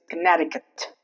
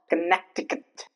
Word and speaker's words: Connecticut: Next is Connecticut. Connecticut. The C is not pronounced. There is no trace of C while pronouncing Connecticut. It's not connecticutant. It's Connecticut.